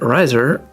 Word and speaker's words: Riser: Oh, you said Riser rhymes with Budweiser.